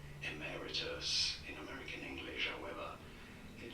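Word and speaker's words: emeritus: You do want to stress the second syllable emmeritus in American English.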